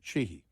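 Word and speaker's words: Sheehy: strong GOP candidate and it's spelled uh s-h-e-e-h-y pronounced chihi the I didn't give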